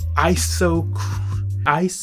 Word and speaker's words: isochronous: Scientifically, a beat tends to be isochronous.